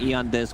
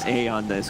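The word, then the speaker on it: Aeon Disk: removed from the game e on this pronounce a on this go okay smoke around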